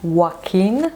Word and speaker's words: Joaquin: Yes, it's pronounced Joaquin, not Joaquin, but Joaquin.